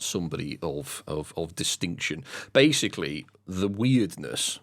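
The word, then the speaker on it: Wyrdness: Basically, the weirdness, which is spelled W-Y-R-D-ness or weirdness, some overarching dark looming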